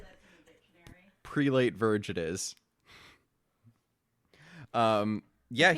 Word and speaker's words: prelate: Prelate. Shut the fuck up. prelate rhymes with zealot.